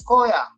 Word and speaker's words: Khoya: But when you pronounce Koya, oh, what's the spelling? Okay, Khoya. Very short and fast.